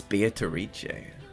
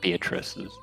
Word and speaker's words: Beatrice: The uh the woman in the portrait there is the uh titula or um fabled Beatrice. Oh, that's Beatarici or Yeah, Beatatrice as some would say.